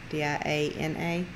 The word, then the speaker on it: Diana: Diana at Justice Acres said that Diane, D-I-A-N-A.